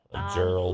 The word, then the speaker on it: Gerald: Is it Gerard? Or if I pronounced that wrong. Gerald.